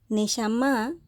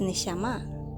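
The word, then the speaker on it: נשמה: hebreo significa me llama me llama se escribe n e s h a m a h en hebreo me llama Esto está traducción de ser viviente al español en hebreo es neyamá se ha traducido es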